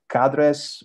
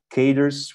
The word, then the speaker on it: cadres: But creating cadres or cadres, whatever your favorite pronunciation, is, I think, once